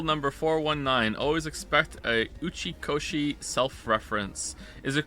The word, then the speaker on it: Uchikoshi: Also, just to be 100% clear, am I actually saying Uchikoshi? correctly? I don't want to mispronounce someone's name.